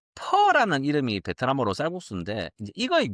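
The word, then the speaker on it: phở: 그니까 그 원어 발음으로 원어라고 말하긴 좀 부끄러울 수 있지만 퍼 그래서 한국어로는 퍼에 가까워요. 퍼 근데 이제 한국에서 요걸 포라고 해 가지고 식당들 보면 뭐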